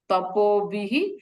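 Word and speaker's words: तपोभिः: Here visarga and after visarga ksha is there. is a conjunct consonant, and therefore we have to pronounce that visarga as her, complete her. And the last swara vowel is E, and therefore that E has to be added into her, and therefore it is called tapobihi.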